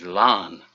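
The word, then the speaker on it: Laugharne: on good authority that the English pronunciation of the town in South Wales is lon although I here tonight there's a Welsh translation which is more akin to like con it was never gonna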